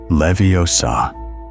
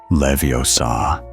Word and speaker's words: Leviosa: Swish and flick and the incantation must be pronounced clearly. Windgardium. Leviosa. Not Leviosa.